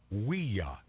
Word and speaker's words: Ouija: Ouija, that's Ouija, is a combination of the French and German words for yes. Okay, I'm aware of this. Pronounced Ouija.